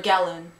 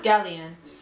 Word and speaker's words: galleon: scene for gloomy galleon oh gloomy galleon or gallon pretty sure it's galleon yeah it's gallium it can't be gallon because gallon is spelled differently right so for here